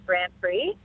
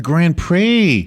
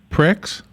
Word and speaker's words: Grand Prix: We had a guest once who didn't know how to pronounce it. they did what they say. Pricks?